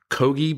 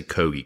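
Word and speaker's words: Køge: the next morning in kogi Bay I've I I heard it pronounced several different ways but I'm going to say kogi KO g e kogi Bay southeast of amader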